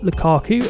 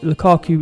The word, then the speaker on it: Lukaku: quite a controversial strike i'd say in ramelu lukaku if i can pronounce his name correctly some people don't like